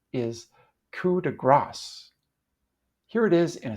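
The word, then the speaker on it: coup de grâce: gr instead of gas when using a French word in English we usually don't pronounce the final s people think they're being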